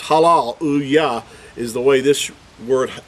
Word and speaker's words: Hallelujah: Now, in our English translations, I think it's written as hallelujah, J-A-H, but we know everyone pronounces it hallelujah or halal-u-yah, not hallelujah, jah. That's not how we pronounce it.